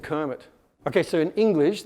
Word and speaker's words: Kermit: It's also why Kermit the Frog is not spelt with a C, otherwise he'd be Sermon.